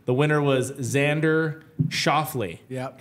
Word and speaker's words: Xander Schauffele: And you're going to have to help me on pronunciation here. Number 1, the winner was Xander Schauffele.